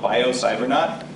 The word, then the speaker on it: BioCybernaut: Bio, B-I-O, cyber, C-Y-B-E-R, not, like astronaut, N-A-U-T, .com.